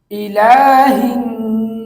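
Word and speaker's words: إِلَٰهِ النَّاسِ: লা হিন না সি ই লা হিন নাসি এভাবে করে 10 বার বলুন এই আয়াতের উচ্চারণ হচ্ছে ইলাহিনাস ইলাহিনাস ইলাহিনাস এই আয়াতের অর্থ হচ্ছে মানুষের প্রকৃত মাবুদের নিকট।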